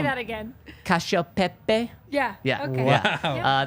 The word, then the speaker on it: cacio e pepe: cacio pepe. Yeah. Yeah. Okay. Yeah. Yeah. That's how they say it in Italy.